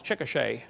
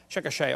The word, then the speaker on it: Chickasha: it 2005 textbook and i pronounced it wrong as chickasha not chickasha chickasha oklahoma i got corrected during